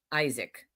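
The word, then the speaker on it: Aizik: Like Isaac is his first name, but it's spelled A I Z I K. Isaac.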